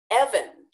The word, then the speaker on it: Evan: And so finally he wrote it down for me and I went, oh, Evan. He wasn't able to pronounce the V sound.